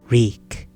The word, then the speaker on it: Reek: Reek. It rhymes with Shriek.